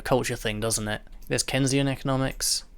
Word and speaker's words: Keynesian: it there's keynesian economics i know i'm pronouncing that name wrong because that's a guy's name and i know it's not kenzian it's not it's keens isn't his keynesian because it's mr keane's i think that's all